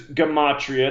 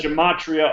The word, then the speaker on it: Gematria: So the subject is Gematria. That's the proper way to say the word. People who follow me hear me say it. That's what I said. Gematria all the time because that's the way I